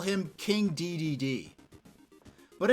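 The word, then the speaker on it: Dedede: definitely call him King DDD but in Japan it's pronounced day day day but uh no this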